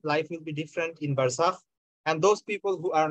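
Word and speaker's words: برزخ: If you pronounce it in Arabic, it will be like barzakh.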